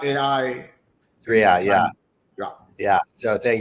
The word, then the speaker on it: Sriya: It's great to connect with you, founder, CEO, and inventor of, pronounce it for me, Yeah, Sriya AI Sriya.